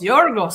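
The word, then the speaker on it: Γιώργος: I hated that I hated pronunciation for Greek in Greek. What is it? Yorgos. Yorg. Yorgos. Yorgos sounds really cool.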